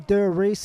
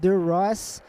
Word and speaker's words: Der Riese: And just for those of you wondering how you pronounce Der Riese, by the way, it is definitely Der Riese. It is not Der Riese.